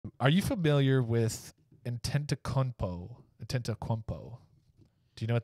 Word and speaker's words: Antetokounmpo: I'm pronouncing it correctly. I looked it up and listened to it multiple. Say it again. Antetokounmpo. He's not. No, it sounds like a weird coconut.